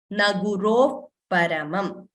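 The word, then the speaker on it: न गुरोः परम्: So, whenever a visarga is followed by pa, in the pronunciation, it gets replaced by what we call upadhmaniya. So, when we chant, it becomes, or when we read, it becomes naguro paramam. So, we don't say naguroho visarga completely and then paramam.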